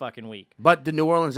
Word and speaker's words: New Orleans: pissed at them for saying nollins because that's like the some some real estate agent from kansas city invented that pronunciation no new orleans bastion no the way true new orleans would say would be new orleans new orleans new orleans